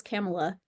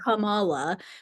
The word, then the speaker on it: Kamala: a thing about her name getting mispronounced, and I always thought it was Kamala, like Pamela, Mhm. but it's not. It's Mhm. Kamala, which I didn't, Kamala.